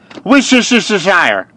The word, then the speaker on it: Worcestershire: It's just Worcestershire.